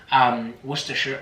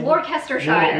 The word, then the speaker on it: Worcestershire: way that I'm sure Americans love hearing us pronunciate American places completely wrong. Worcestershire, what do they say? Worcestershire.